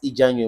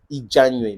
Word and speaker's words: Ijanwe: Ijaoui Moses, also known as Ijanwe Moses, si vous voulez bien. C'est comme ça qu'on prononce Ijanwe Moses.